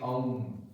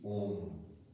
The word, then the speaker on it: Om: So in Sanskrit grammar, A plus U becomes O. So the pronunciation will not be Aum, it will be Om.